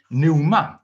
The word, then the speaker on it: pneuma: Wel, y gair mae Paul yma yn ei iwso yn y Groeg yw pneuma, a mae yna silent P yn y fan hyn eto.